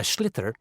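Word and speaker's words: sliotar: this ball called a schlitter that's s-l-i-o-t-a-r so it's not spelled the way it's pronounced you hit ears into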